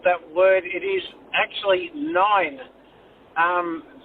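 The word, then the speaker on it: nein: It is actually nine. Um, the German equivalent of no is nine.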